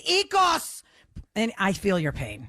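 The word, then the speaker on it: Oikos: o i Kos and everyone calls it oos that is not how you say it John stamus it's EOS and I feel your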